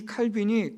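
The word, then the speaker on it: Calvin: 우리 미국식 발음, 영국식 발음으로는 칼빈이라고 말하고 프랑스식으로 발음할 때는 칼뱅이라고도 부르기도 합니다.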